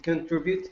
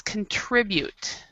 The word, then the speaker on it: contribute: to to make honor my country and to contribute to the economic and political development of this